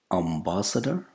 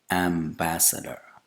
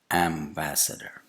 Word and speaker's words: ambassador: Ambassador? Wrong. Ambassador. Ambassador. That's the correct pronunciation. The initial vowel sound is not A, it's A. And the second vowel sound is not A, it's also A.